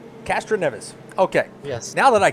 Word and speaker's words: Castroneves: all a i want to get the correct pronunciation of your last name castroneves castroneves okay yes now that i got that well